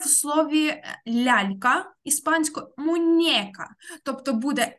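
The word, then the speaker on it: muñeca: Мунека. От, але там не ене, а енне. Зверніть увагу, мунека.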